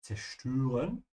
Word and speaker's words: zerstören: Yeah, zerstören. And please remember the Ö here. Ö. Just like the French Ö.